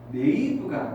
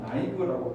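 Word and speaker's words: naive: 요게 네이브가 아니고요. 발음이 나이브입니다. 나이브. 한국 사람도 좀 많이 쓰더라고요. 이게 무슨 뜻이냐면 순진한이란 뜻이고요. 근데 순진한이 좀 좋은 의미인가 아니라 조금 바쁜 느낌으로 가겠어요. 조금 나이브라고 발음을 어떻게 하른 교훈 뭘로 할게요.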